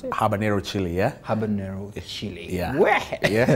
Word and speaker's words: habanero: just picked one of it here it's called habanero yes that's how you pronounce it habanero chili yeah habanero chili yeah in the office